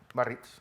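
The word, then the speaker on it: Biarritz: El G7, que se celebra en la región de Barrix, ¿cómo se pronuncia eso? Barritz.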